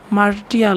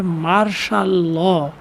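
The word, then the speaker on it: martial law: ইন 1958 সালে Ayub Khan declare, Ayub Khan ঘোষণা করেছিল মার্শাল ল, মার্শাল ল, এখানে অনেকে ভুল করবে, মার্টিয়াল বলবে, কিন্তু ওর উচ্চারণ হবে মার্শাল ল, সামরিক শাসন জারি করেছিল, ঘোষণা করেছিল।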